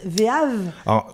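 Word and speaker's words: VEAV: as créé l'agence audiovisuelle alors comment on la prononce vav V e a v vivre une expérience audiovisuelle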